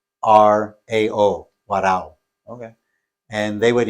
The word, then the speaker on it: Warao: spell that? Well, depending on if you're Venezuelan or it's English, it's WARAO, Warao.